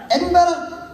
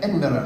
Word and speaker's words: Edinburgh: In Scotland, we have rhotic R's.